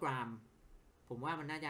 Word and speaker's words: Graham: นี้ แหละ เพราะ ว่า มัน เหมือน กับ กราม อ่ะ g r a h a m อ่ะ บาง คน อ่าน ว่า graham แต่ ว่า อ่าน จริง ๆ มัน อ่าน ว่า กราม ผม ว่า มัน น่า